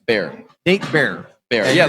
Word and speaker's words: Baer: Bear. Nate Baer. Bear. And Yeah, you're- like pronounced like the animal, but spelled a little differently.